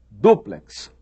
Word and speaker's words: duplex: Eles ensinam que quiçá quer dizer talvez, ensinam que a pronúncia correta é látex e ensinam que a pronúncia correta é duplex, triplex.